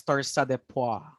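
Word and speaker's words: torsades de pointes: do you pronounce that it should be pronounced as tarsa de poi since this is a french term now your tursade pua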